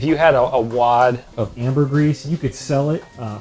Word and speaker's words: ambergris: know about something gross there's this thing called amber grease and it's spelled funny but you could probably google it and like auto correct your way into it but there's this thing called ambergris and it used to